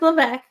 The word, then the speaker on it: Levesque: Is that how you pronounce it? Nikki always. No, it's Levesque.